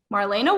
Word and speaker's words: Marlena: wrong they're like wait is it marlena or marlena and i'm like it's marlena but i answer to both